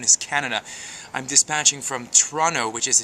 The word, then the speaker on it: Toronto: Canada I'm dispatching from Toronto which is a two- syllable word that actually should be pronounced Toronto so here you go